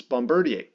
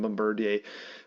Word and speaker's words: Bombardier: utility mon generally is Bombardier and uh I'm going to use the Canadian pronunciation of that because it sounds like Canadian company Bombardier and bombard thanks Frey uh Bombardier fills